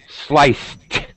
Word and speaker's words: sliced: yes that's better and sliced with a t sound because it's a c but it makes an S pronunciation sliced sliced sliced celery yum yum sliced